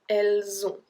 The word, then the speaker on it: Elles ont: so that they have, we pronounce it like that. Elles ont. Elles ont. Okay? And we don't pronounce the T at the end because it's une lettre muette.